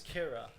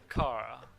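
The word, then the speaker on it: Qira: Her name is Kira. Kira. Yeah, Kira, but with a Q-I. So not Kara. No, Kira.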